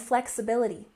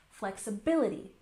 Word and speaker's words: flexibility: And flexibility. We've got a subtle stress here on the first syllable and the main stress here on the third syllable. Flexibility, flexibility. And finally, routine.